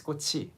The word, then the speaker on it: 꽃이: 꼬치 and sometimes with 꼬시. Can you explain why the pronunciation changes to what's more common? Well, the standard pronunciation is 꼬치, 꼬치, because the 치읓 is there.